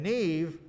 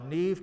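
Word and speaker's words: Niamh: uh spelling uh and neve is spelled n-i-a-m-h it's it's not a phonetic language uh neve canor is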